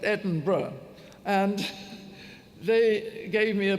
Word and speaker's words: Edinburgh: That's how you pronounce it, by the way, not Edinburgh, but Edinburgh.